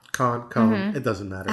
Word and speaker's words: Cohn: And I have been saying your name wrong. I always say Con. Cohn.